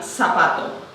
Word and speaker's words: zapato: them (in standard pronunciation) If I wanted to say the word "zapato", "shoe", then, I would say "Sapato" and then I would be using the "seseo" There are people who